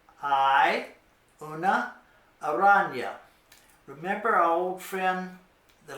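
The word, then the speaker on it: araña: in y in English like in the English word Canyon Canyon or onion it's kind of like that so you'd say I Una aranya there is a spider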